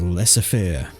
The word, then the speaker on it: laissez-faire: Up the top here in the blue corner, going Seraphim, it is laissez-faire. I'm pretty sure it's laissez-faire. Somebody mentioned on one of my other videos that was how it's pronounced.